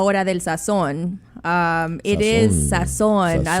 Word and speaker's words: Sazón: It is Sazón.